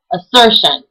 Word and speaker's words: assertion: So, for instance, it would be said assertion. If you heard, I put more of an accent on the sir part of the word.